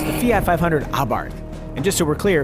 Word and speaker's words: Abarth: it's the Fiat 500 abart and just so we're clear it really is pronounced abart with the silent h but wait you ask